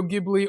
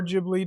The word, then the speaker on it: Ghibli: And then drawing in the references to Studio Gibli or Ghibli depending on how you want to pronounce it.